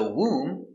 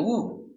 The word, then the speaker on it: womb: that's right very good so remember whenever you see m b at the end of a word the b is always silent these are only